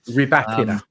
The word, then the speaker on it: Rybakina: So they, at the minute, if the money keeps coming from Rybakina, then is it how you pronounce it? Rybakina? Rybakina.